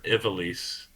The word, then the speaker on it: Ivalice: I'm still playing Final Fantasy Tactics, the Ivalice Chronicles. Or Ivalice. I gotta get used to pronouncing it that way. Ivalice, not Ivalice.